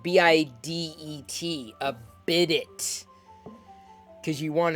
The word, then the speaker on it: bidet: And yes, by the way, I also know that it's pronounced bidet. Because that just makes everything better. When we call it bidet, makes it sound French.